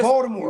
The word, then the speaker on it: Baltimore: Baltimore. You all tune in. You pronounce it Join Baltimore. the fun. It's pronounced Baltimore. Baltimore Ravens. Baltimore. There you go.